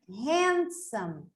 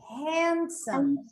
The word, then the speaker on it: handsome: So here, the word handsome, handsome, handsome.